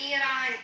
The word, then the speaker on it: Iran: I don't care what say Iran.